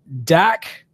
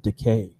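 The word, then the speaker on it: Dakkeh: Dak or D-A-K-K-E-H. I'm assuming the E-H is silent. I'd say we'd go with decay.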